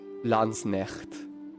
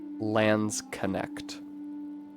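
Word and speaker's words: Landsknecht: I regret to announce that recently I came upon a video in which a person pronounced Lans neck as Lans connect. It made me very sad.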